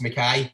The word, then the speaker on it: McKay: is spelled but it's usually but they're both pronounced makai but it's it's it's easy man it's amazing